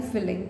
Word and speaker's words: filling: देखो, FILING ये होता है फाइलिंग, और FILLING ये होता है फिलिंग, ठीक है। प्रोनाउंसिएशन में कंफ्यूज मत होना।